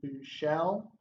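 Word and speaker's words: Buechele: true freshman last name it's shane through shell you know I think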